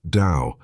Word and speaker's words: Tao: will be diving into is called the taao pronounced Dao an ancient Chinese philosophy that focuses on living